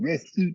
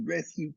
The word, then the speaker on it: RSWT: Okay, so today somebody asked me about the idea, a concept from ancient Kemet called resuit QWED. Resuit is spelled RSWT, and QWED is spelled QWED.